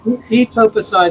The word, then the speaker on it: etoposide: Okay, etoposide. Hopefully I pronounced those all right. Etopicide is the way we normally pronounce it.